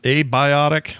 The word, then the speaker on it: Abiotic: So it's abiotic, or abiotic? So abiotic is how I pronounce it because it's like a bee's dick, abiotic.